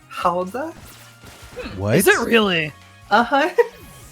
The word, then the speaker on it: Gouda: know, fun fact, that the cheese that we like to put in puns, Gouda, is actually just pronounced Hauda?